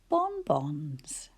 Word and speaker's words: bonbons: Bonbons too. Bonbons too. I haven't introduced that word, but it is one little syllable, bon, with another bon attached to it, bonbons.